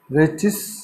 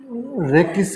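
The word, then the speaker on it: rachis: यहाँ पर रेचिस या रेकिस प्रोनाउंसिएशन में आप यूज़ कर सकते हो। इसको हम रेकिस कहते हैं।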